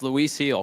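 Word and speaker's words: Luis Gil: get this one right Lis heel did I do it right yes yes Luis heel correct just a pronunciation right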